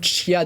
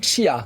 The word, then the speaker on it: chia: Et donc ce matin, on va mettre du chia dans nos vies. Oui, vous l'avez très bien Mais prononcé. il paraît qu'on dit chia. On dit C'est chia, ça.